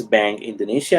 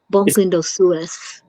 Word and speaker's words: Banque Indosuez: how to pronounce this, Banque Indonesia, I guess. Indosuez. I'm sorry? It's a French bank, Banque Indosuez.